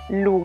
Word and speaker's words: Lugh: dedicata al dio celtico lug che tra l'altro andrebbe pronunciato come lui in questo caso ancora come se raggi non esistesse ancora oggi la parola